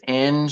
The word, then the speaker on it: Eng: your last name um it's uh it's Eng like an engine yeah okay that's what